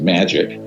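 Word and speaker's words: MAJIC: the majority intelligence committee ma ajic is pronounced magic ironically uh or not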